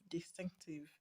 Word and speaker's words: distinctive: I said when you have a word that ends in IVE, you're going to stress the second syllable from the end.